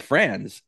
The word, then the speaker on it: Franz: So start with the proper pronunciation of his name. Yeah, so his name is Franz.